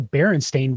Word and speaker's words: Berenstain: not the Berenstain Bears, it's the Berenstein Bears or Berenstein. Yeah, Berenstein, because I was calling Berenstein, and Berenstein is what it's like, huh? Yeah, it's Berenstain Bears. But did we all just mispronounce that one?